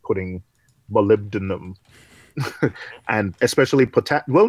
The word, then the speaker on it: molybdenum: doing manually right now I gotta learn to pronounce that word molybdenum molybdenum dude sounded radius yeah molybdenum yep okay yeah